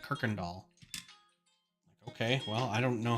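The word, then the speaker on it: Kuykendahl: lived it was called the road was Kirkendall which sounds like it'd be fine to pronounce but the spelling was all over the place there was a u and a y and there was no r in it at all but everyone said Kirkendall okay well I don't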